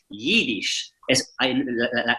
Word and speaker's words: Yiddish: Entonces el Yiddish, que esto es importante decirlo, Yiddish no se escribe en castellano se escribe con una I latina, Yiddish, pero la pronunciación original es Yiddish. La letra no es una I, es una Y.